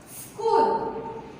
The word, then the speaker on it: school: Next, school. S-C-H-O-O-L. School. In this word, H is silent.